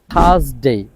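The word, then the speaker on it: Thursday: হচ্ছে Wednesday Wednesday Wednesday থার্সডে থাস থার্সডে আর এর যে উচ্চারণ সেটা হবে না কারণ আর এর পর কনসোনেন্ট আছে থার্সডে ফ্রাইডে ফ্রাইডে এফ এর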